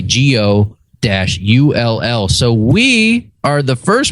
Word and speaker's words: Ghoel: And he writes it phonetically. Gio-L.